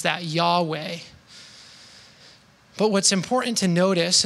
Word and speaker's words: Yahweh: Some of us would pronounce that Yahweh.